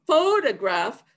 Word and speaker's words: photograph: learn its stress pattern so photograph starts off with the major stress then goes unstressed and the third syllable is standing such as show i